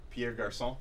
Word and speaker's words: Pierre Garçon: Pierre Garçon.